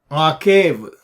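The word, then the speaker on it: עָקֵב: the word a cave a cave is Ein cough Beth wet like without the Dage you pronounces were a cave so akhab is healed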